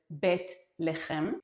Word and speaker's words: Bethlehem: Bethlehem or as we pronounce it, Betleheim becomes the center of Catholic and Protestant Christmas on December 25th.